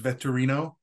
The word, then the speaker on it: Vettorino: the show yeah and actually that's it's uh pronounced veterino um so it's a lot of people kind